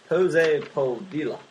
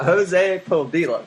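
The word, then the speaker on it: Jose Padilla: It's directed by Jose Podilla. Yep, that's how you say it. That's exactly how you pronounce it. Jose Podilla.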